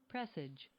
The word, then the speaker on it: presage: indicating its likelihood and once again the word is pressage pressage I was torturing that the whole entire time pressage pressage what how you say it pressage what's it again pressage talk to me one more time pressage pressage p r s a g e it's a verb and